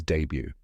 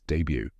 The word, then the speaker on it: debut: the correct pronunciation is Debut let's break it down step by step first part is day just like the word daylight and the second part is BU which rhymes with few now say it with